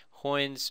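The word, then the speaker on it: Heun's: So I looked up the pronunciation. So this guy's name was Karl Hoyne, which is a German name, and so you say it Hoyne's method. So it rhymes with coin.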